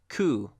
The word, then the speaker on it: coup: So this word is pronounced coup, and the P is completely silent.